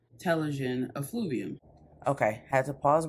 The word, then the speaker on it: telogen: it up and it's saying that it is pronounced telogen so before i get into that let me